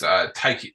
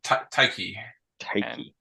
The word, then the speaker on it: Tyche: Tyche. C-H. Uh, pronounced Taiki. Taiki.